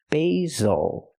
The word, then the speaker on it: basil: this word is basil use the long a sound for the first syllable like say and day B basil the S makes the ZZ sound like zebra make a vibration use your voice Z basil again not basil